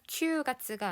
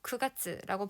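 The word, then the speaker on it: 九月: 9월 큐가츠가 아니라 크가츠라고 발음한다는 거 주의하시고요.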